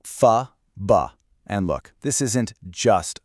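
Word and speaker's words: phở: You'll hear it pronounced kind of like fba.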